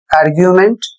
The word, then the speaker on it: argument: अगला शब्द है ARGUMENT, आर्ग्यूमेंट, और इसका अर्थ होता है तर्क।